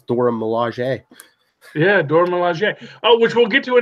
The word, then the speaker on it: Dora Milaje: I'm like, oh, I finally get to learn how to pronounce Dora Milaje. Yeah, Dora Milaje.